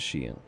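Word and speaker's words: chien: GN yes that's WR or is it shien Shen apparently the pronunciation is shien I do have a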